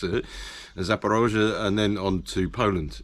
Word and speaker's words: Zaporozhye: And Zaporozhye, okay, for these people who can't quite pronounce it, Zaporozhye, and then on to Poland, yeah.